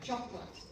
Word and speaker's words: chocolate: So where is the O from the middle in the spelling? It's nowhere. Chocolate. C-H-O-C-L-A-T, if you were to spell it phonetically.